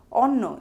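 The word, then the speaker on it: অন্ন: For example, onno is pronounced as on no and nobanno is pronounced as noban no.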